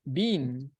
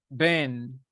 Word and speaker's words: been: Remember, it is not bean. Bean means frijol. Se pronuncia como el nombre Ben.